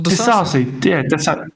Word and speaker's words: Disasi: Disasi? Who did you say? Axel Disasi.